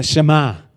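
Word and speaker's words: שמע: Oye, escucha, que se traduce en la palabra de Dios para todos, es la palabra shama, que se pronuncia shema en el hebreo y que quiere decir oír inteligentemente con atención.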